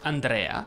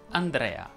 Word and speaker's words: Andrea: la o chiusa giorgio andrea sia al maschile che al femminile si pronuncia con la è aperta andrea in daniele samuele gabriele